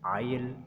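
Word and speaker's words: isle: एस इज़ not pronounced before L इन the following words. नीचे जो लफ्ज़ दिए गए हैं इसमें हम जो एस है उसको प्रोनाउंस नहीं करेंगे, उसके बाद चूंकि एल आ रहा है तो एस साइलेंट हो जाएगा।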